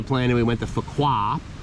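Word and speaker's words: Phú Quốc: and we went to fukuoka which i believe is how you pronounce it p-h-u-q-u-o-c the island and we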